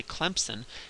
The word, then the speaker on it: Clemson: probably realizing it is if you pronounce the the school Clemson if you if you say it like a good southern ER and you say Clemson you put a pee in there and then there's no pee in the word if you look at it sometimes people from up north will pronounce at Clemson with a Z and there's also no Z in there phonetics would highlight the